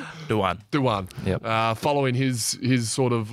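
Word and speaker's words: Dujuan: There was a soft J in there. It's hard. Duyan.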